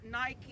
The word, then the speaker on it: Nike: pareho kayo mali kayo wrong in your pronunciation It's nike nike nike wala wala yan tag O sige